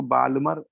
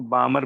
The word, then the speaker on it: Balmer: इसमें L silent होता है, इसको बालमर मत बोलिए, इसको बामर बोलते हैं, बामर सीरीज, ठीक है।